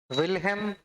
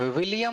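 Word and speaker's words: Wilhelm: विल्हेम won't, विलियम नहीं, कि केवीएस के पीआरटी में क्वेश्चन विलियम लिख के दे दिया था और बहुत सारे लोगों ने विलियम लगा लिया था आंसर, जो कि गलत हो गया। नाम भी मायने रखता है, सीटेट में कंफ्यूज करने के लिए दोनों नाम एक जैसा दे देगा और आप गलत कर लेंगे। विल्हेम विल्हेम ही होता है, विलियम नहीं बन सकता।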